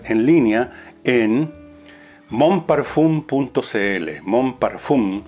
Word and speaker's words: Mon Parfum: línea en monpar cl Mon parfum se escribe así pero se pronuncia mon parfum y no tenga miedo